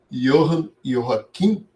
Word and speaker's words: Joachim: Então, o J é I, né?